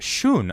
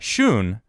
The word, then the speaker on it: Sean: Sean says, also my name is pronounced Shun. Oh, thank you. I actually had no idea. Shun.